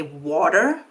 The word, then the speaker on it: water: So, for example, even though most Americans say water, you probably still think of that middle sound as a T, even though you don't say T.